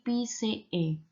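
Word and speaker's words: -phyceae: Nah, selanjutnya ada kelas, nama kelas untuk kelompok alga, dia berakhiran dengan PCE. Jadi ketika A dan E bertemu bacanya E. Jadi PCE.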